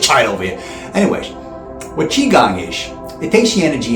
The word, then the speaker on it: qigong: A lot of you mispronounce it. You're calling it Gi Gong. It ain't Gi Gong. Don't call it that, okay? But it's Gi Gong.